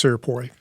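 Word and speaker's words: Cierpiot: We say it's Sirpoy. Sirpoy.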